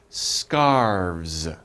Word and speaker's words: scarves: do you guys try scarves scarves okay so we have V and s scars okay don't pronounce the e scarves so one scarf